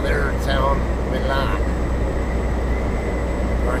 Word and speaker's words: Milan: Yes, I'm going to call it Milan, not Milan.